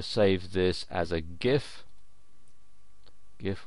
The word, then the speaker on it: GIF: GIF or GIF as some people pronounce it.